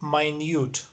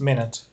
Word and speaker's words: minute: Okay, so if it means very small or tiny, it's pronounced minute. And if it's 60 seconds, then it's pronounced minute. Minute, but minute.